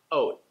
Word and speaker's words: oat: When you're hearing the word oat connected to other words, you might hear it sound like this, oat. You notice that there's no t sound at the end.